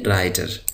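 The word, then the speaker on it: writer: वाला doctor doctor doctor यहां पर यह डब्लू साइलेंट है डब्लू को नहीं पढ़ा जाएगा इसको पढ़ेंगे राइटर राइटर कहते हैं मजमून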